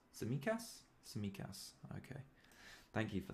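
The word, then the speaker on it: Tsimikas: um we'll see how the t is silent all right so it's samikas samikas okay thank you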